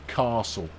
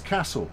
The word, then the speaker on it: castle: it as uh equally if you're in Newcastle it is Castle and not Castle because uh there you go but a castle that was in Newcastle would be a castle yeah I know but